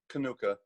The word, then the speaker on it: Kaniuka: tried a couple times to get on piers Conoco who is going to did I pronounce her last name correct konoka yeah Nuka okay and today piers is going